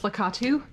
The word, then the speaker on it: Lakitu: So it's pronounced Lakitu.